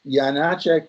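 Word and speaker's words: Janáček: Jana check he has it's Jana check with the long a means it's a more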